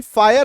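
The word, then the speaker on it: fire: तो आप देख पा रहे हैं कि एफ आई आर ई फायर लिखा हुआ है, लेकिन यहाँ पे स्पेलिंग में वाई होना चाहिए था ना, एफ आई आर ई, वाई तो है नहीं, तो य कहां से आ रहा है ना, जब वाई नहीं है ये य भाई साहब कहां से आ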